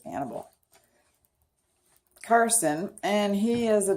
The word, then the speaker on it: Annibale: I think it's Annibale. It's A-N-N-I, which sounds like Annie. B-A-L-E. Annibale. Maybe it's Annibale.